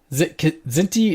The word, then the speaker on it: Kzinti: Did we decide it was Kzinti or Zinti? I think it's pronounced both ways. Kzinti? I've heard it both ways. Okay. Kzinti is dangerously close to Zindi, so maybe I'll pronounce the K.